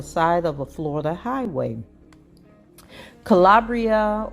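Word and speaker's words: Kalabrya: of a Florida Highway Calabria or I I may be pronouncing her name wrong as k-a-l-a-b-r-y-a Haskins attorney Rick Elsie released a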